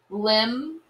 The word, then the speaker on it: limb: can't hear the bee lim can't hear the b nah can't hear the